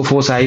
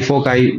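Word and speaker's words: foci: इसको फोसाई, फोकाई जो भी बोलते हैं आप लोग, प्रोनाउंसिएशन करते हैं, इसको फोसाई बोलते हैं।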